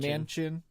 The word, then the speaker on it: Manchin: do you say his name it's me and Manchin yeah he came out he's criticizing Nancy Pelosi